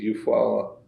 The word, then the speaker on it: Eufaula: But my dad, he was of the Raccoon clan, and he was of the Eufaula Canadian tribal town. That's how you pronounce it in English.